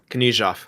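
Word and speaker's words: Knyzhov: Correct me on the pronunciation. Is it Nizhov? Nizhov, the Russian? Oh, yeah. Knizhov.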